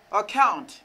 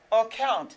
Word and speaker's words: account: Account. Account. Pourquoi ça me dit account? Parce que je me dis double C, ça va être son K.